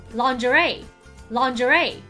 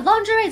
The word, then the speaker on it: lingerie: 四，lingerie。